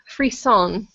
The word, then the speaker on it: frisson: from listening to it that's actually called Freon which is spelled f r i SS o n and it's a French term that means aesthetic chills which feels like waves